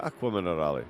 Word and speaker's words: Acqua Minerale: Go and give me that one more at Acqua Minerale, bud, because I just absolutely... Oh, you said it right now. Yeah, Acqua Minerale.